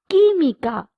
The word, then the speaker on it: química: La química, chemistry. QUI is pronounced as ki.